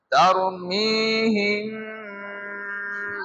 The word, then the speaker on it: ترميهم: কোন জায়গাতে এই দুই ঠোঁটকে ধরে রাখছি হ্যাঁ ترميهم بحجارة বুঝা গেছে?